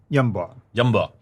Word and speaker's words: Yanbu: Yamba. So Yamba is the one that supplies all the needs for Yathrib, because Yathrib is in the desert. I mean, in Hijaz, we call it Yumba, by the way, but it's in Yunba, classical